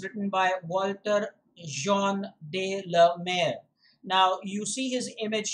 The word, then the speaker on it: de la Mare: walter de la mer remember the pronunciation walter de la mer that is how you should pronounce it what are we going